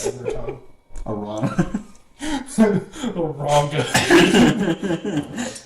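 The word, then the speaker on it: Arrana: me is that why you were being it's pronounced right your tongue Arana ronga it's okay to be ranga all right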